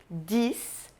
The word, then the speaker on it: dix: 10, que, como o cis, se pronuncia dis e não dix, ok? É 10.